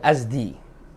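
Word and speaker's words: الأزد: ya, dari Bani Azad, Azad bacanya, zainya disukun, ya, minal azdi, ya, minal azad, ya.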